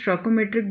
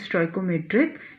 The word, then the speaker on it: stoichiometric: a struggle metric defect I say your pronunciation either you can say it's a choco metric defect someone is saying it's a schalke metric defect but this one is a stoical metric defect it now in case